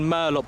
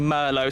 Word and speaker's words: merlot: that's what mazda chose i was saying murloc before but it's actually merlot so that's how you say it we've also got a